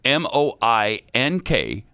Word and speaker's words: Moink: It's spelled m o i n k. That's moo plus oink put together.